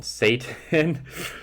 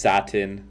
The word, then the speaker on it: satin: They have things like a a bevel tool, an inner shadow, inner glow, Satan. Yeah, I'm editing this right now. It's pronounced satin, I think.